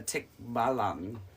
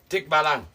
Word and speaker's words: Tikbalang: um actually I think the video you watch said a tick balang tick balang B that would probably be closer uh pronunciation than what we try but you know we